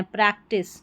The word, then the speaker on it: practice: ए सी Prague और टी आई सी ई को यहां पर टिस करके पढ़ेंगे। टाइस नहीं पढ़ना है। प्रैक्टिस।